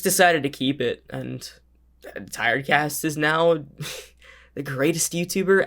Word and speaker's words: Tired Cast: all that and they'll be like thank you t-red cass thank you for the five dollars i'm like how do you get that name wrong like i get some people who just